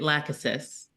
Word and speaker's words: Lachesis: It's Lachesis. Lachesis. Oh, okay. Cuz I'm And now with that pronunciation, I when I was an undergrad, I